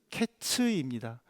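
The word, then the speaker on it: קֵץ: 즉에 히브리어로 여름 과일은 카이츠이지만 끝은 캐츠입니다. 하이츠와 캐츠라는 비슷한이 발음으로 인해서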